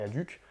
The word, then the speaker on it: Adhuc: pour aller sur le site de Semper et Aduc. Yes. J'ai très bien prononcé.